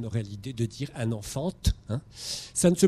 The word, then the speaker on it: enfant: Vous voyez le T d'enfant qui, bien sûr, ne se prononce pas. Personne n'aurait l'idée de dire un enfant.